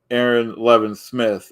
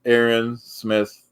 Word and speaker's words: Aaron Smith: I don't know why Marty is saying Aaron Le Smith I don't know if he's doing it on purpose or if he's just stupid but my name and I'll say it correctly for my sanity my name is Aaron Smith L Marty and then